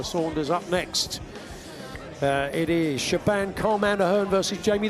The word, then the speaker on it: Shebahn: Up next, it is Shebahn Calm Hand Aherne versus Jamie the Chunk O'Hara.